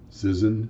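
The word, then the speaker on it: Cision: can look it up it is citizen c-i-s-i-o-n i think i pronounced that fairly close article from kitko pretty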